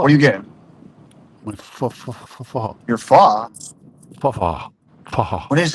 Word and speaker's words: pho: It's spelled PH. H. Oh. Yes, but pronounced. Pho.